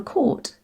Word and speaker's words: court: your choices in this case the o-u-r is pronounced or so it becomes course and it's the same for court c-o-u-r-t too no wonder louisa was confused we're